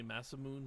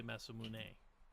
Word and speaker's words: Masamune: yeah some people say massive moon some people say masamune well either way stripes